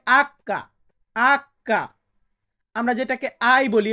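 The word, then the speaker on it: acca: এইস, এইসে হয় আক্কা।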